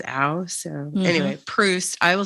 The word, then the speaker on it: Proust: But I really loved Proust and the Squid. Proust.